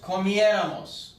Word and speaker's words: comiéramos: Nosotros comiéramos, con un acento en la E.